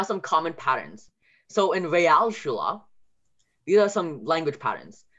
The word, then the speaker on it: Realschule: But most of the time, if you hear A in German, it's E. So Realschule. That's pretty important. So Realschule. And then the A sound, Realschule is spelled with an A. And ignore the sometimes O for now, because that might get a little complicated. But for now, the Real, that's spelled with an A. So if you're Real, it's not real, it's Real. So it's a different spelling.